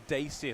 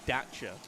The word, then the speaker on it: Dacia: a terrible vehicle also the dacia sandero doesn't exist it is actually the dacha that is top gear pronounced it wrong and made us all get it wrong however team tate third